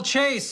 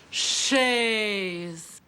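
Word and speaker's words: chaise: Beautiful Chase, isn't it? I believe it's pronounced Shay.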